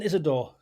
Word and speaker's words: Isidor: Isidor Wilson Isidor.